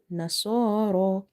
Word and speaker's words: نصارى: Ra, vertical Fatha, Ra, Nasara. And this Ya is extra here because it's not containing any harka, it's not madda, it's not lean. So we will just exclude it in reading.